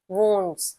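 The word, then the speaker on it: wound: what do यू से घाव in English separately if आई आर वंड्स spelling W यू N very good so इट is pronunciation is वंड some people pronounce it एज वाउंड इट्स नॉट वाउंड इट इज़ वंड time is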